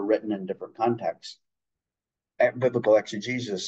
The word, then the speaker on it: exegesis: And basically that's exegesis. It's spelled E-X-E-G-E-S-I-S.